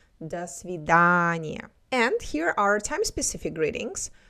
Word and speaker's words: до свидания: When we have unstressed vowels, their pronunciation is a little bit different when it's stressed. So we do not say до свидания.